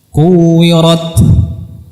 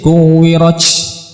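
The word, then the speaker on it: كُوِّرَتْ: Nah, kuwirat. Jadi jangan diucapkan dengan c, kuwirat, salah ya. Atau dengan sin, kuwirat, salah juga ya.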